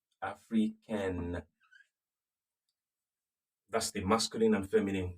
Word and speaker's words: africaine: Then you now pronounce the N and then add E.